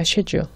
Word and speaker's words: schedule: schedule. 그러니까 약간 극단적으로 쇠줄에 비슷한 이런 발음이 납니다.